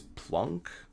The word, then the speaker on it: Planck: called Planck's constant or I think it's plunk probably officially so this guy right here is it's it's spelled plank like walk the plank but I've heard people say plunk plunk because I think he was German actually I know he